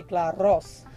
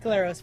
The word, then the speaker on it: Glaros: Well, if you're Greek, you say Glaros. But which I can't roll. I can't roll R's, so I'm glad you did that for me. Glaros works. Appreciate it.